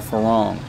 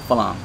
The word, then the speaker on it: farang: He wrote a book called Farang, F-A-R-A-N-G. Thais pronounce it Phalang.